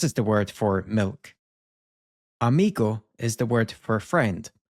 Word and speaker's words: amigo: Which brings us onto our first main point, which is that the letter I in Spanish will take on more of a double E sound. So, we get amigo.